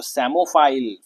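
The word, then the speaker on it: psammophile: next one देखो क्या बोला था मैंने आपको क्रायोफाइल से रिलेटेड है क्या इसको इसमें पी साइलेंट है क्या पढ़ते हैं इसको सेमोफाइल फाइल मतलब हो गया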